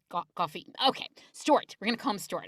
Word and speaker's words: Goffey: It's like coffee. Stuart Goffey. Goffey.